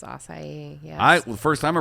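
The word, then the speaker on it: açaí: a hard one acai bowl or acai it's acai yeah the first time i read it i was like okay i think that i said assi bowl for the first time yes please bring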